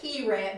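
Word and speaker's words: Kehret: and it's by Peg I'd call it keyrant but I'm not good at pronouncing things it's k-e-h-r-e-t and she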